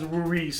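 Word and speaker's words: Louis: The strongest character by far is Luis, or Luis, however you want to pronounce it, although the mangaka even pronounces it as Luis, so I guess we'll just go with that.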